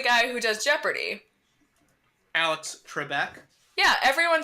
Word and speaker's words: Trebek: at the beginning of every episode who says tree Beck why does everyone say Alex Trebek when the guy introducing him on the show pronounce it as Trebek we are [ __